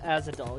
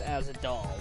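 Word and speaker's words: Ahzidal: No, it's pronounced Azadol. Yeah, I remember it's Azadol, but I was making a joke.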